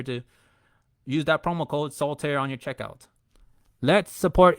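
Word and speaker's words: Soltaire: Use promo code soul tear, which is two letter, two syllables. It is not solitire. It's not that card game. It's soul tear. Remove the eye.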